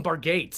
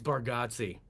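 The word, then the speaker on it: Bargatze: He's like I said I I called him Bargates, I guess. Yeah. Very first time I talked to he's like it's Baratsi.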